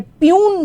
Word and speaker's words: puisne: Justice फायज ईसा जो हैं जिनको के बोलते हैं प्यून सुप्रीम कोर्ट जज, प्यून यानी कि PN नहीं प्यून इसके स्पेलिंग है, इसके स्पेलिंग जो होते हैं वो होते हैं PUISNE।